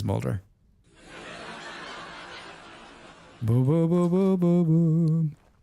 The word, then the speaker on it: Mulder: His name is Molder. His name is Mulder.